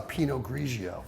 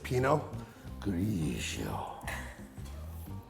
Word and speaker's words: Pinot Grigio: But that's not how you say it. No, how do you say that now? You say it like this, Pinot Grigio.